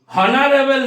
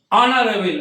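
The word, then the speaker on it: honourable: হনারেবল নয়, আমরা কি হনারেবল বলবো না, কি বলবো? অনারেবল অর্থাৎ এইচ এর প্রোনাউন্সিয়েশনটা কি হয়ে গেল, সাইলেন্ট হয়ে গেল।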